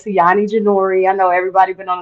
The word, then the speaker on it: Ceione Jenore: right well my name Isani janor I know everybody been on the show probably like how the hell do you say her name it is canani janor but everybody call me